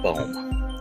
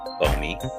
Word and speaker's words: Boehme: I would like to talk about Jacob Boehme, or Jacob Boehme. Jacob Bowman.